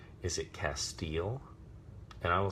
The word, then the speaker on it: Castiel: of the spelling of the short form of Castiel that had a single S in official supernatural